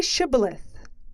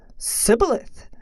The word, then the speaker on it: Shibboleth: When a fugitive of Ephraim wanted to cross the Jordan, the Gilead guards would say, "Say Shibboleth." The Ephraim man would say, "Sibboleth," for he could not pronounce it correctly.